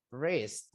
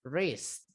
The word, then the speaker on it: wrist: Wis. Nah, ini W-nya enggak usah dibaca ya. Bukan wis, tapi wrist. Ris.